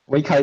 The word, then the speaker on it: Weikai: Weikai is a correct pronunciation, by the way.